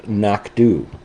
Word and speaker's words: Knockdhu: The Anoch, uh, a single malt Highland single malt scotch whiskey is produced by a distillery called Knockdu.